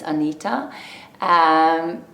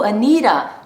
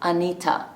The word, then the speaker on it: Anita: Even Anita is hard for people to understand that it's Anita. So I end up just saying my name is Anita, Anita. And they're like, "Oh, Anita." No, not Anita, Anita. There's a T, not a D.